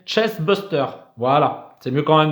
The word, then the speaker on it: chestburster: Ouh, qu'est-ce que je l'ai mal prononcé? Chestbuster.